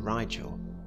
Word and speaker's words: Rigel: it first things first i've always pronounced the blue star ritual but you wouldn't be wrong if you pronounced it rigel in the north of england we tend to use a sharper if sound than in the south or in states much